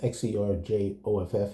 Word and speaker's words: Xerjoff: That's X E R J O F F and pronounced Xerjoff.